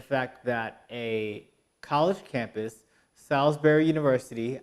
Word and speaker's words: Salisbury: that a college campus Salisbury University I'm pronouncing it like the steak not how it's spelled and I believe that